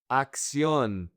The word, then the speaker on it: acción: "Acción". So, here, this first C in Spanish sounds like a K.